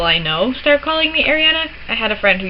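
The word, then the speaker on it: Arianna: My name is Ariana. It's spelled A-R-I-A-N-N-A. It does not have one N, it has two N's. It is not pronounced Adriana, despite what everybody seems to think.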